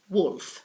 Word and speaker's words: Woolf: Virginia Woolf Virginia Woolf I know there are two O's but actually it's wolf okay incidentally she was